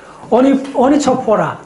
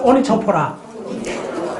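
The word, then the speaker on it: Onychophora: 자, 그 다음에 이제 하는 게 뭐냐 하면, 가지가, 스펠링이 조금 어려운데, 어떻게 되느냐 하면, O-N-Y. C-H-O-P-H-O-R-A. 자, 혹시 이거 아는 사람? 오니초포라.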